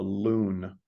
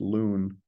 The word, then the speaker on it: LUN: unit number or a loon I know it looks like Lun but it's pronounced loon and the first uh